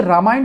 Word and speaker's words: रामायण: रामायण ना लिख के इस फिल्म का नाम रामायणा क्यों किया गया? यह हिंदी फिल्म है और इसका प्रोनाउंसिएशन रामायण होना चाहिए था, ना कि रामायणा।